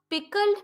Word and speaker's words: pickled: Here it is pickled, but most of the time people pronounce it as pickled. Yeah, this D sound at the end should not be stressed that much. It should go little lower.